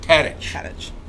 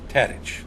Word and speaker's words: Tadich: Tadich. Tadich. Okay. Like Tadich's Bar and Grill in San Francisco.